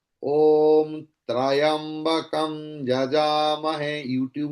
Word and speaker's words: त्र्यंबकम: इट्स त्र्यंबकम, इट्स नॉट त्रयंबकम। त्र्यंबकम, like मूर्धन्या, clear? So it is not मूर्धनया, no, it's not trayambakam, it's मूर्धन्या, मूर्धन्या, मूर्धन्या, मूर्धन्यादित्यास्तिष्ठन्तो।